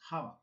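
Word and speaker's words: חוה: En ese sentido, la mujer es más sensorial y la mujer como tal, la palabra Eva en hebreo es Java.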